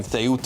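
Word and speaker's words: Ceuta: That of course is what has been going on there next to Morocco in Theoda I think the correct pronunciation of it is.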